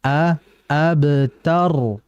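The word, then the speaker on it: الأبتر: bismillah kemudian berikutnya terakhir hati-hati Al abtar bukan O bukan Inna syaniakaal ABT Bukan tapi A abtar jadi a nya tipis di sini kan Hamzah ya saya katakan bahwa kalau ada dalam al-quran itu terucap a i u itu namanya Hamzah ya Al A AB AB bukan O bukan AB bukan AB yang betul A AB tar tar bukan th bukan th ya bukan th kayak th gitu Yang betul ta tanya tipis inak AB itu jadi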